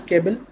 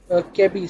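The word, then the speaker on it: ChEBI: Next we see CHEBL, which I'll be pronouncing as Kebel. Chemical entities of biological interest, also known as KEBI, sorry, not Kebel, is a database and ontology of molecular entities focused on small chemical compounds.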